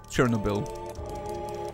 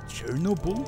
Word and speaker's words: Chernobyl: no um Chernobyl Chernobyl Chernobyl like Cherno bull that sounds what Chernobyl Cherno balls Accent on the no what Chernobyl Chernobyl Chernobyl